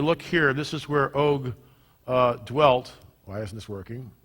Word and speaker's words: Og: In the territory of King Og, king of Bashan, that's how Doug Hamp pronounces it, Og. The rest of us pronounce it Og. We're all wrong.